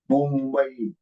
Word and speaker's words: Mumbai: It will be pronounced as Mumbai, Mumbai, Mumbai, Mumbai.